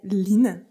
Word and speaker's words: Hlyn: Aujourd'hui, j'ai le plaisir de recevoir au micro Gonzague Lin. Je prononce bien.